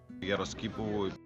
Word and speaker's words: Geroskipou: their football team, and this is how he pronounces it. Geroskipou. So that's how I'm going to pronounce it, okay?